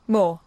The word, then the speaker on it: Moore: Well, that's how it's pronounced, mate. Moore.